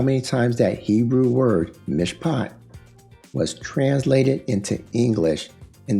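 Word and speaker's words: מִשְׁפָּט: Here's the pronunciation. I'm going to click this so we can hear it. Strong's H 4941 mishpat mishpat Okay.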